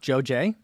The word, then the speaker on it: JoJe: i looked up on the website and it's pronounced joe j there's no way that j-o-j-e accent is pronounced